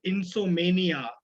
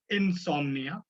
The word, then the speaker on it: insomnia: of speech there uh there was one mispronunciation uh where the speaker said insomania it's insomnia just a correction on the pronunciation there again a good usage